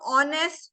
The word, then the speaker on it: honest: Okay, so honest, yes, it is spelled with H. But we can say an honest man. We do say an honest man because you're not pronouncing H.